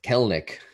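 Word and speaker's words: Kelenic: It's Kelnick, Jared Kelnick.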